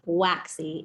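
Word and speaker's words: WACZ: called web archive collection zipped pronounced waxy in its acronym form so i'll let ilya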